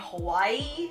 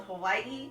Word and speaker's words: Hawaii: it the correct way I know a lot of us that live on the mainland say Hawaii when it's actually called Hawaii day you even say it right ye Hawaii anyway I'm just gonna